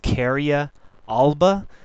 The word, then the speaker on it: Carya glabra: mockernut Hickory the scientific name is pronounced Kia Alba it's a member of the jugan daa family